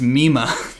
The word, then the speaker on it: Mima: this parasocial relationship and i was getting her name wrong it was it's mima i was thinking yeah you were saying like i was like mommy's not right like i i was yeah i switched up the vowels there it's nema i